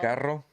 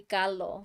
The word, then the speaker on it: carro: something, but they'll say like instead of carro, they'll be carlo.